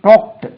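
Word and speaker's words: talked: எல் கே இடி வி டாக்ட் இதுக்கு உச்சரிப்பை கவனிங்க டாக்ட் அதை டாக்டுன்னு சொல்லக்கூடாது வி டாக்ட் அபௌட் அவர்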